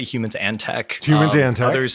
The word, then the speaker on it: Humans X Tech: I say humans and tech.